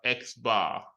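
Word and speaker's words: x̄: has the X bar usually is pronounced as X bar all right actually refer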